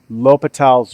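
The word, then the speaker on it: L'Hôpital: called indeterminant forms and lal's rule or La hospital it's it's pronounced Lal um so the big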